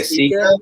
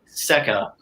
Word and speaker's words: ACKA: mispronounce Air Capital, but ACKA gets mispronounced all the time. People say Sika. Sika? It's not Sika because it doesn't have two E's. It's Seka. Seka. Seka, not Sika.